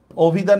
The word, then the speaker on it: অভি: ও বর্ষকার ভি, অভি। কেন? অধ্বনির পরে রস্যই আসছে, অধ্বনির পরে রস্যই আসছে, এই জন্য কি হয়ে গেছে গা, ওকার হয়ে গেছে, মারাত্মক।